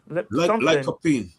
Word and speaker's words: lycopene: Lipicin, pronounce it? Colchicine. COLCHININE. Colchicine. No, it was another thing you mentioned. It's called lipicin in the watermelon or something like that. Lycopene.